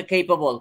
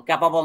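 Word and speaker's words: capable: নাই স্যার খেইপাবল কইপাবল সি এ পি এ বি এল ইটার উচ্চারণ হচ্ছে কইপাবল ক্যাপাবল না কেপাবল এটার সাথে কোন প্রিপজিশন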